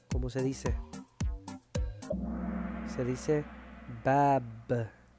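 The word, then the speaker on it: باب: Cómo se lee Cómo se dice se dice bab B a a b b b que es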